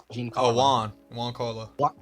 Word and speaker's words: Giancarlo: Giancarlo Esposito. Juan Carlo. Juan Carlo. Yeah. I see a G. I see a G. He said the G is silent.